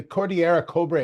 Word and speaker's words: Cordillera Cobre: Yeah, is it the Cordillera Cobre?